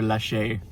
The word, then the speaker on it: Laxe: I think I forget if I said if he was Spanish or not and it's pronounced Oliver Laxe.